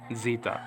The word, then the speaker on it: Zeta: the Hebrew okay so this is Zeta just put a quick D sound right in front of the Z sound data and again in modern Greek Zita we saw that we